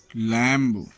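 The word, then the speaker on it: lamb: B silent, M के बाद आया हुआ बी प्रायः साइलेंट रहता है, जैसे कॉम्ब, कंघी, लैम्ब, भेड़ का बच्चा, थंब, अंगूठा, टॉम्ब, मकबरा।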